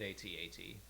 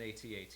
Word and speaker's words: AT-AT: I say it AT-AT. I don't care if people say AT-AT at all, but ATST, like ATTE, they're all pronounced that way, so why would you not pronounce it AT-AT as well?